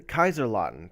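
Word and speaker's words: Kaiserslautern: I can't remember how to pronounce it. I do know how to pronounce it, but I cannot remember. I have to Kaiserlautern. That's it.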